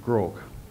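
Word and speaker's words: Groarke: David Chipperfield office he met Andy Grogg he pronounced it Grogg as in Howard Rock crook kaveri grok was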